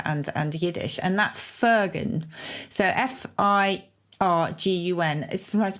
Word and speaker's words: firgun: and jewish culture and and yiddish and that's fergan so f-i-r-g-u-n is sometimes pronounced fergan as well it's unselfish pride so it's kind